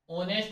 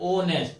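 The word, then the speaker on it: honest: कुछ silent word भी आपको याद रखने पड़ेंगे। जैसे अपन को ये ऑनेस्ट होता है लेकिन स्टार्ट एस से हो रहा है लेकिन जब प्रोनाउंसिएशन जब इसका कर रहा है जब बोल रहे है तो बोलने पे ओ आ रहा है ऑनेस्ट ठीक है तो इसलिए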